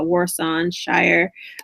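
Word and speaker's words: Warsan Shire: album um I think her name is pronounced uh Warson Shire um yeah so she's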